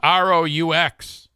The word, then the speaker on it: roux: to say that word how do you pronounce r-o-u-x is that what I'm doing I don't know I'm just reading a recipe a roux it's called a roux okay if you guys